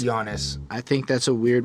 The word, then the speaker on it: Giannis: Anyway, I don't think it's Giannis. It's Giannis. I think that's a weird way to spell Giannis. So The G is silent.